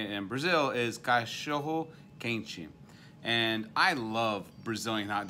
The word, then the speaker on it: cachorro quente: and how they say it in Brazil is cachorro quente.